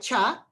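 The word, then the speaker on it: 茶: And then that form, it's pronounced like te. I don't speak any Chinese. So if you do, just work with me. But in Mandarin, it's more like cha.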